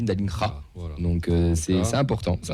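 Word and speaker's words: Dallinga: Écoute, on disait Dalinga, ça se dit Dalingra.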